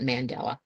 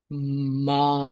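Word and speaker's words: mandala: Mandela is where my not Mandela manala is the correct pronunciation and I should not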